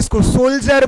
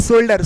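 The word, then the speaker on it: soldier: का प्रनंसीएशन जो होगा आप क्या बोलेंगे सोल्जर बोलते हो ना की शोल्डर सोल्जर बोलते हैं मेरी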